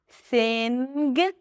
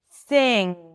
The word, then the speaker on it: sing: So if you haven't watched it, when there is an NG, especially at the end of words, we don't pronounce the G sound.